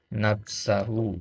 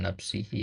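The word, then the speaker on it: نفسه: Nah, ya, kemudian la yumkinu li'anna hadzal qauna la yumkinu, ya, diperbaiki di kitab harokatnya, an yujida, ya, nafsahu, ya, bukan nafsihi, ya, atau nafsu, an yujida nafsahu bi nafsihi wala yumkinu.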